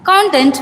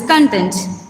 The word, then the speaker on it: content: First one, content versus content. The English word spelled C O N T E N T expresses two distinct meanings when pronounced differently.